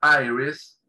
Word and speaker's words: iris: En inglés se pronuncia iris, la I latina que está al principio, se pronuncia como un diptongo, A-I, iris, ¿sí?